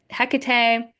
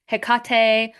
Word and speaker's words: Hecate: Now, Hecate can be pronounced a couple different ways. You can pronounce it Hecate, Heekkate, or Hecati.